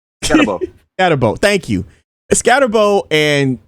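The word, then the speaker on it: Skattebo: How you pronounce that man's name? Scatterbo.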